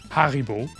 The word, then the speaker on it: Haribo: You do get trivia about Haribo. Do you know what Haribo, or let's pronounce it like real German, as you would, since it's a German company, Haribo, where the name comes from?